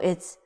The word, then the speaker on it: 爱: 看人看人看人 The last one 人见人爱人见人爱 So 人 you know it's human or people 见 you know this is see Another people or human or person andThis character, you haven't learned it. So this pronounced as I.